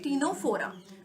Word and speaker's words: Ctenophora: Then next is Ctenophora, C is silent here, okay, Ctenophora.